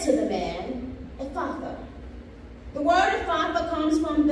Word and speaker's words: Ephphatha: And he said to the man, "Ephatha."